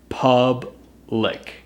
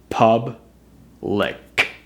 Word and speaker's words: public: first one is public pub lick pub lick really have to get that sound at the end the next one is